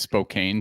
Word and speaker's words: Spokane: I've got to connect correct your pronunciation it's Spokan hence the T-shirt my man this will help you I I created a uh a phonetic device a pneumonic device for you SPO can there we go amazing I'm doing good